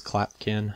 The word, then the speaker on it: Clapkin: Clapkin. I don't remember. It rhymes with napkin.